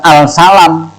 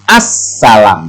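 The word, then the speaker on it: السلام: rumah dan lain sebagainya jadi membacanya Bukan al-salam tapi as-salam Hai suara awalnya hilang ini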